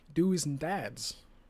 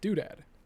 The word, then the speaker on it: doodad: doodad is because earlier he said do's and dads which is a really weird way of saying doodad but I mean he now knows that actually it's pronounced doodad Progress character development this